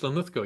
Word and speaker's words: Linlithgow: It is Linlithgow, yes. Linlithgow. Oh, I got it right. Okay, I'm terrible with pronunciations, but I managed that.